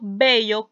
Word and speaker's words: vello: el ejemplo de bello cuando yo digo vello con b larga lo debo de pronunciar igual a bello con v Pero qué pasa cambia